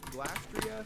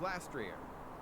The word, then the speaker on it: Glastrier: According to Cerebi, though, they are officially pronounced Glastria, Spectria, and Calyrex. But according to the latest Pokemon Presents in August 2023, the ghost horse is called Spectrier. This means the ice horse is now called Glastrier.